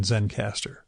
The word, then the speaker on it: Zencastr: If you're interested in that setup, it is spelled Zencastr, so no final E in Zencastr.